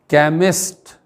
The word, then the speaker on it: chemist: सी के बाद एच आ जाए तो सी का उच्चारण क च अथवा शंकर वाला शा हो जाता है। आइए अभ्यास से जानें। जैसे दवाइयाँ बेचने वाला, इसकी अंग्रेजी होती है केमिस्ट, CHEMIST।